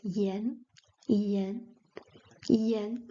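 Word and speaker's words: 炎: So we have yen at the second tone is pronounced yen yen yen with this character means inflammation.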